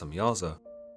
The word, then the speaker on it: Samjaza: The leader of these angels, known as Samjaza, sometimes pronounced Samyaza, tells the Watchers that